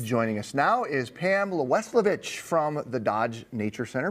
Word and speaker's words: Welisevich: Welisevich. Welisevich.